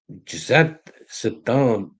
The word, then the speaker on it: Zhdanov: So, it's uh Zha- Zhdanov Zhdanov I'm going to say I have to uh I have to practice saying that.